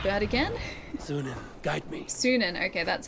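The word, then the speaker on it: Sýnin: Sunan, okay, that's how you say it.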